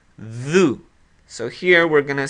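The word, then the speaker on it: ذُ: And these are all pronounced like this. Dhu. Dhu.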